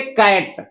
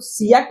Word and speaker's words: cat: जैसे कैट, कैट, तो अगर इसके हिसाब से हम पढ़ें तो इसके हिसाब तो सिएट होगा ना। अरे सी का CAT, सिएट, इसको सिएट तब पढ़ेंगे अगर इनके सिंगल प्रोनाउंसिएशन के हिसाब से चले तो। ऐसा नहीं होता है, हम सी के लिए पढ़ेंगे क, ए के लिए पढ़ेंगे, ए के लिए ऐ, ए के लिए ऐ ना, तीन ही लगते हैं, या